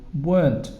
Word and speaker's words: weren't: And you can have you weren't driving home. Be careful with weren't because the pronunciation is no E there.